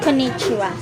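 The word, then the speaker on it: こんにちは: This Japanese word is pronounced konnichiwa. It means good afternoon or hello. So, this one represents the syllable ko, while this one represents the nasal sound n, and this hiragana character represents the ni, while this one represents the syllable chi, and this one stands for the syllable ha.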